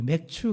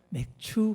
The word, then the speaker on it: 맥추: 예, 우리 맥주 감사절 우리 발음을 잘 하셔야 돼요. 맥주 그러시면 안 됩니다. 맥추 감사절, 보리를 추수하고 드리는 그런 감사절기입니다.